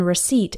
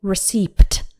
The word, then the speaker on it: receipt: one receipt also the P in receipt is silent we don't say receipt it's just receipt imagine the P just isn't there so a recipe tells